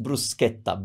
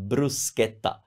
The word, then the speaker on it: bruschetta: in English speaking countries sometimes it's pronounced a different way but in Italian it's pronounced bruschetta bruschetta that's the back of